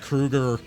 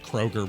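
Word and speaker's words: Kroeger: it's like how Chad Krueger uh lets people call him Chad Kroger because he didn't tell anyone that his name's actually pronounced Krueger until a few years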